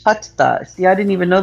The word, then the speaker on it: Hatha: It's spelled Hatha, but it's pronounced Hatha.